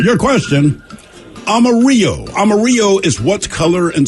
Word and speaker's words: Amarillo: That's yellow in Spanish, spelled with the L's. So in English, we always say Amarillo.